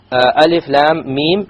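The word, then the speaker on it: الم: No, you must do a ghunna. Alif lam mim. So the lam 6 harakas, the mim 6 harakas, and in between the 2 ghunna of 2 harakas.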